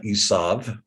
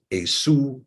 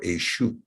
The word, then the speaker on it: Esau: But when we look at its true pronunciation, minus the Masoretic spin, we find it's not Esav or Esau, but rather Esu or Eshu.